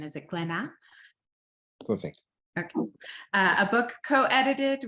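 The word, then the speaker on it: Glénat: Comics publishing house uh I might brutalize this pronunciation is it glena perfect okay a book co-edited with two colleagues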